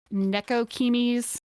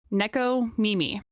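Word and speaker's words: nekomimi: Nekokimis? Nekokimis? How do you say that again? Oh, cat girls? Cat girls, yeah, essentially. Neko Mimi.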